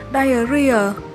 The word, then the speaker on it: diarrhea: Cả hai từ này đều được đọc là diarrhea, nhấn âm 3, và chúng cùng có nghĩa là bệnh tiêu chảy trong y học.